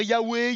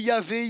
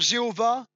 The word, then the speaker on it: Yahweh: On peut dire Yahweh, Yahvé, YHWH. En tout cas, on ne peut pas dire Jéhovah parce que c'est une prononciation qui est arrivée que dans les années 1270 par un moine qui